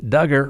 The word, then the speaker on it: Duggar: jury in Arkansas found Duggar rhymes with hugger guilty in December of